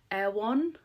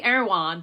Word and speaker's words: Erewhon: an American accent, but Erewhon. I say Erewhon, but I think that's just the American way, and I have to say Erewhon. It just doesn't sound as exciting, does it? Erewhon.